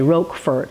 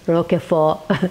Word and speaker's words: Roquefort: Americans say roquefort, it's roquefort.